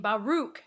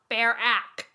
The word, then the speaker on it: Baruch: wall street investor bernard pronounced his last name baruch not bare ack as adam said sorry